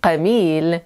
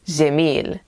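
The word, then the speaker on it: جميل: Because when you hear an Egyptian say gemil to you, it doesn't mean qamil or gmail as Haj Google apparently believes. It means gemil, beautiful.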